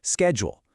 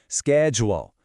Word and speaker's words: schedule: Something else you might notice in American English is that sometimes people say it with 2 syllables, schedule, and other times with 3, sked-yool. You'll hear both, and you know what? Either one works just fine.